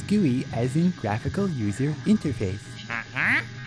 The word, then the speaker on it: GUI: no it's not gooey as in sticky it's gooey as in graphical user interface because that's how i pronounce it you can say gui if you want but you'll sound like a